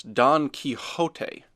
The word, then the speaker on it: Don Quixote: doubt about football that's Don Quixote mr. glass says pronouncing the X as an H the proper way Don Quixote Chet repeats